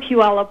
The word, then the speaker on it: Puyallup: Hi, I'm from Puyallup, Washington. Yeah. Puyallup. Puyallup, yes.